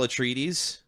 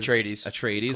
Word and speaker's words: Atreides: The only dude you know is Paul Atreides. I think that's how you say it. Atreides.